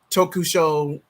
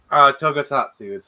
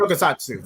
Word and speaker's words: Tokusatsu: What would you say is your favorite Kamen Rider Super Sentai Tokusho series? I probably butchered that. Tokusatsu is how you pronounce it. Tokusatsu, thank you.